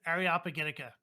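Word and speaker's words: Areopagitica: to figure out that the way you pronounce it is ariopagitica by the way Fabian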